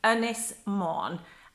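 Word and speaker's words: Ynys Môn: appears once and but just in case you want to now say it's earnest monde and it's the Welsh for angle C and Beth Gillett so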